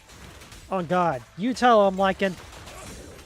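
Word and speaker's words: Lycaon: Oh god, you tell him Lycan. Or Lycon, however the hell it's pronounced. Oh no, they say Lycon.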